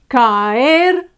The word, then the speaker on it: caer: Caer, fine. It ends with a consonant, R, so it's the last syllable that's accentuated, that's stressed.